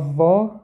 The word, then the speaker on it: ظ: Произносится как "За", а не "за", а "За".